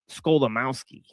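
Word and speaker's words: Skolimowski: it up Henrik Scholamowski he's Polish okay Henrik yeah and it basically sounds exactly as it's spelled sko right um um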